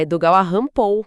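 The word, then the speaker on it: Edogawa Rampo: Espera, Edogawa Hampou. O nome parece, é uma brincadeira, é a pronúncia japonesa de Edgar Alampou.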